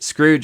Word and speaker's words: Skrooge: doing so you can check out Scrooge and Scrooge is spelled with a k so SK Roo GE